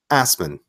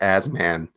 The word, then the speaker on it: Assman: Say here, Asman. Tartlets. Assman. Assman is a what nationality would Assman be? That's a great question. Let's read on. It is pronounced Asman. It is Asman.